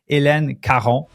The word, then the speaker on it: Hélène Caron: And I'm going to say her name in French because it deserves to be said in French. Hélène Caron.